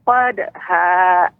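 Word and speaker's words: قدحا: Fal muriyati qadha. Masih terasa Ibu. Qadha. Ya, nanti dilatih Ibu ya di rumah ya. Insyaallah ya. Pertemuan berikutnya nanti saya akan dengarkan lagi pengucapan dal ya, tidak boleh ada hamzahnya.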